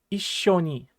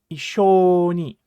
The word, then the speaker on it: 一緒に: So it definitely should not be Issho Ni, ne? It should be Issho Ni, Issho Ni, ne?